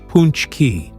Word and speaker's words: pączki: But instead of king cakes or Mardi Gras madness, the spotlight is on one irresistible treat: pączki, pronounced punchki.